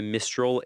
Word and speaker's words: Mistral: - Mistral, my apologies. Is that how you say it? - Well yes, like Renaud's song, "Mistral gagnant". Mistral.